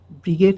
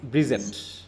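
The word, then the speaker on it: Bridget: ব্রিগেড স্যার। ব্রিগেড। ব্রিজেট, হ্যাঁ, ডিজি জে, যেমন আমরা ব্রিজ বলি, BRIDGE, হ্যাঁ, ব্রিজেট, অনেকে ব্রিগেড বলবে, সমস্যা নাই, এটা বললেই হলো, বানানটা যেন ঠিক থাকে, হ্যাঁ।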